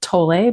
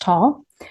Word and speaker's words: Tolle: I've always thought it was Eckart Tolle, but I looked it up because it's a German name and it's pronounced Tolle.